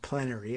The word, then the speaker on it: plenary: generally gave state legislatures plenary power or plenary as some people like to pronounce it over how they appointed